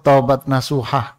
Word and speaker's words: taubat nasuha: kitab madarijus salikin tentang taubat nasuha kalau kita sebut tobat nasuhah katanya sebetulnya aslinya Taubat nasuh pengucapannya taubat nasuha itu apa beliau menukil